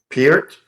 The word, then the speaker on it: Peart: Neil Peart's last name is pear with a P. It's ear with a P at the front and a T at the end. Peart?